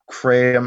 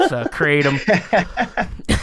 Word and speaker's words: Kratom: There was certainly plenty available in the pharmacology literature for animal studies, and quite a bit was known about Kratom. How are we pronouncing it today?